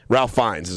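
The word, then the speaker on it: Ralph Fiennes: played by ralphinus okay ralph finds how he pronounced his name ralph finds yeah okay so he's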